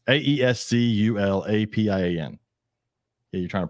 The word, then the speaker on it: Aesculapian: Esclupian. No, you're putting the U in the wrong place.